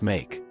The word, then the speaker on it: 馬: the first sounds babies make. Is a combination of the radical nu, meaning female, and ma, pronounced like a soft ma.